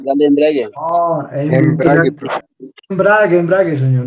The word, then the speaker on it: embrague: embrague, señor. No embriague.